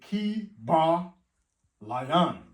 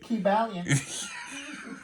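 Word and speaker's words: Kybalion: There's a book called The Ki Ba Lion. But they don't pronounce it that way. Yeah. They say Ki Balian.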